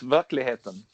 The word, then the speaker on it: Verkligheten: Verklighten. Yeah, that's close. Verkligheten.